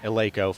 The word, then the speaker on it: Eleiko: And yes, ladies and gentlemen, that is how you pronounce it, Eleiko, for the amazing equipment for this meet.